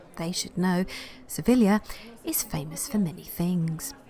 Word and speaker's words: Sevilla: beautiful and Elysian Kaptur Seville or as the Spanish pronounce it they should know Sevilla is famous for many